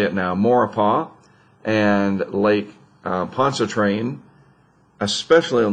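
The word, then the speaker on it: Maurepas: and i've learned how to say it now mauripah and lake pontchartrain especially on those north sides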